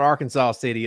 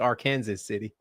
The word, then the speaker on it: Arkansas City: knew that one but it's not Arkansas city it's AR Kanas City Y uh let's see